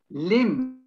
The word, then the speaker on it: limb: The word dumb, again, a silent B, forget the B if you like, just in the pronunciation. The next one, lamb, silent B, lamb. Limb, silent B.